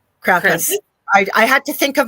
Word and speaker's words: Krampus: We think he is over here in North America, but he told me we say it wrong. It's Krampus, he says.